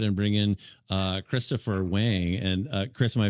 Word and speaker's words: Wang: I a buddy of mine has the same last name and he says Wong. So I guess it could go either way.